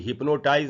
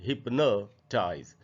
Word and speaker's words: hypnotize: जो स्पेलिंग है HYPNOTIZE, इसको भी हिप्नोटाइज नहीं पढ़ के हमको पढ़ना चाहिए, हिप्नोटाइज। तो आधा अ का साउंड इसमें भी है, आधा प और न के बाद हिप्नोटाइज ऐसे पढ़ेंगे। और फिर ये वर्ड है